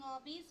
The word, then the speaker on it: hobbies: While you are pronouncing hobbies, you have to say here Z sound.